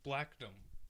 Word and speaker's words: Blackdom: just want to clarify I've always pronounced it correctly I never pronounced it in an odd way it's always been pronounced blackdom by me but I can't wait